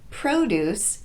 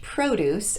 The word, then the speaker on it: produce: good fruits and vegetables notice that the pronunciation of pro is different in each of these produce a noun versus produce a verb okay so let's practice some